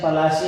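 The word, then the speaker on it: পলাশী: अच्छा, यहाँ पर जो है pronunciation पलाशी एंड the place derived from the Palas tree.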